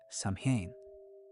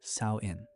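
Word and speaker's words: Samhain: People gathered every year for a festival called Sam. pronounced sain.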